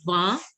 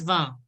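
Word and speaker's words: vingt: 20 is called as known as va. 20 is pronounced as va.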